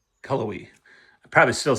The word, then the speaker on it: Cullowhee: When I drop my car off in the city of Cullowhee I said Cawohie. It's Cullowhee. Cullowhee.